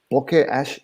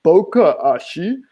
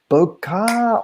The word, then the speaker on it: bokeh: camera review guys the bokeh it's not their fault they've not heard it pronounced but you know when you watch camera shows on youtube and the the camera people like to call it bocca or have you heard